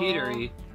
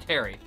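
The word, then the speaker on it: Pterri: Petery. How do you pronounce his name? No, it's just Terry.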